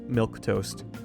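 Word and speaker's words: milquetoast: There is a word there that is pronounced milk toast. If you don't believe me, open up CC when I say milk toast.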